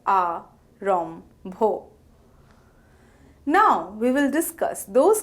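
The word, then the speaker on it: আরম্ভ: The nasal Mo transitions into the aspirated Bho, producing an mb sound. For instance, Arambho is pronounced as A-rom-bho.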